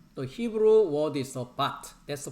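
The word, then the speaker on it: בַּת: If you look at the daughter, the Hebrew word is the bat. That's the pronunciation.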